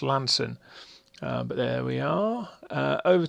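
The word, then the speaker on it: Launceston: over the top of uh well i've always pronounced it lawnston but i've heard recently it's called lan it's pronounced lanson but there we are over to coliford reservoir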